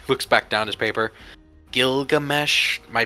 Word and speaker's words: Gilgamesh: Gilgamesh? Am I pronouncing that correctly?